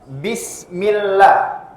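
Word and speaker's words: بسم الله: lagi atau lafzul jalalah lafzul jalalah di sana panjangnya dua harakat ya panjangnya dua harakat tidak boleh lebih ya ada sebagian orang yang bacanya lebih lebih dari dua harakat misalnya seperti ini bismillahirrahmanirah itu berlebih tidak boleh Harus dua harakat Bismillah seperti itu dan saya ingatkan sekali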